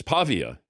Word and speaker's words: Pavia: You said Pavia, it's Pavia. I could see why you would say that, and I've heard mispronunciations, so we checked with Vanderbilt, and it's supposedly the first syllable is what you accent. Okay, fair enough.